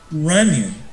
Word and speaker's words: Runyon: Jason Runyon. Now, I did say that correct. I remember it because it rhymes with funny.